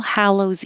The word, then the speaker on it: Hallows: things we practiced was the original name for Halloween was All Hallows Eve. So the HA here sounds like ha, All Hallows Eve.